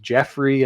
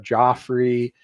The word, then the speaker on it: Joffrey: So he's saying, like, at times he's saying Jeffrey instead of Joffrey.